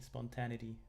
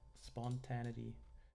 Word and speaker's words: spontaneity: Spontaneity. Spontanity. I hope that's how you pronounce it.